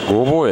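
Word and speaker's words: 御坊: 、これはごぼうと読みます。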